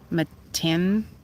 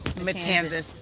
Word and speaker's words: Matanzas: The Matanzas Matanzas. Bay. So that's what we're looking at into. Rhymes with Kansas. Matanzas.